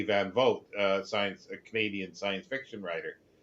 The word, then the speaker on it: Van Vogt: Van Vogt, a Canadian science fiction writer, and people were saying, "Oh, that's wrong. It's uh, Voight or something like that." And it's like, no, it's not. He pronounces it that way.